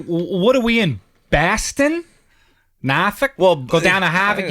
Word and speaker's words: Norfolk: this little thing he's like he can't stress n-o-r-f-o-l-k oh the city how do you say that